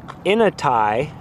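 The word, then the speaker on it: Inatai: everything's so crazy pronounced in a tie bridge at shallish ponds pronounced in a tie a chinook word meaning the other side right across this little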